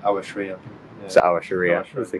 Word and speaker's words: Aouachria: In Arabic, that's Aouachria, but in English, that'd be more like Aouachria.